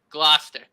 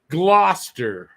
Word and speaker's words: Gloucester: one was uh worcester so this is bluester gloucester gloucester gloucester year didn't do too bad i've done